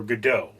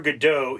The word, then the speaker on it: Godot: did, and Waiting For Godot is a play that's French. Godot is a French name. The T is silent because French people just have to make it difficult for you.